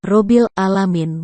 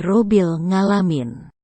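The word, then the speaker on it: رب العالمين: karena Wali Paidi ini ketika membaca huruf Ain menjadi GG rabbil alamin menjadi rubil ngalamin gimana mau khusyu dan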